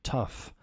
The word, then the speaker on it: tough: beginning entrepreneurship is tough pronunciation tough like an F at the end tough It's Time To